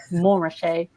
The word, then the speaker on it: Montrachet: It was a Burgundy specialist, and he said, "I think you'll find it's pronounced Montrachet."